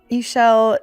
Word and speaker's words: Ishell: back and go inside because Ishell is my name. It rhymes with seashell.